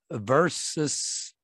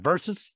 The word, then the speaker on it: versus: 자, sin, 죄와 versus, 자, versus 또는 versus, 여기서 versus는 보통 줄여가지고 이렇게 많이 표현하죠. 그래서 versus, S 발음하기도 하고 Z 발음하기도 합니다.